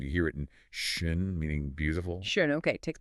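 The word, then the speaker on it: schön: Now, keep making that sound, but round your lips tightly as if you were going to whistle or say ooh. Ooh. That's the idea. It's that rounded a sound.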